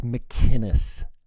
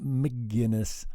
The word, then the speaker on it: McInnes: So yeah, I'm a subscriber to Gavin McInnes. I think he's funny as hell. One of the funniest men on the planet right now. And it's McInnes, Tim. McInnes, not McGinnis like the beer.